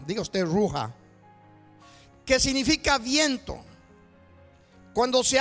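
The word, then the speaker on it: רוח: viene de una expresión judía judía que se pronuncia roja dios te roja qué significa viento cuando se habla del espíritu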